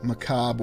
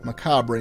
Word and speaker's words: macabre: this chapel in a very macabre or macabre manner, whether you're using American or British English.